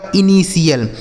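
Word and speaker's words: initial: गया दोस्तों इनी और टी आई एल का उच्चारण आपको क्या कर देना है सीएल यही लिखा गया आपका इनिशियल क्या लिखा मेरे दोस्त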